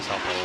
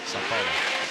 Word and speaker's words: São Paulo: How do you pronounce it? Marília? São Paulo? You say Sao Paulo. Sao Paulo.